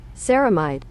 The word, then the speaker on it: ceramide: at episode one here's how you say it camide ceramides are fats or lipids found in the